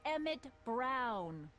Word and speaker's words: Emmett Brown: to a t that's emmett brown rhymes with clown which i'm beginning to